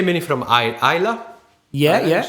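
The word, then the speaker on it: Islay: I'll say many from Isla. Yeah. Is that the right pronunciation? Yes. Isla, yes.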